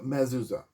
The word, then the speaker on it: Mezuzah: I think that's how I pronounce it. Mezuzah. That's how the Jews pronounce the same exact concept.